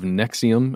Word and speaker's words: NXIVM: the article is titled secrets of Nexium again spelled NX IV M and they go into